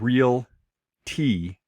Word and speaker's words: realty: So it's realtor and realty. So it's just two syllables because a lot of people do the realtor and they're adding Make it the three.